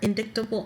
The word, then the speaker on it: indictable: a summary conviction or indictable offense. Indictable. Well, there's a C, that's why. I know. I hate silent letters sometimes.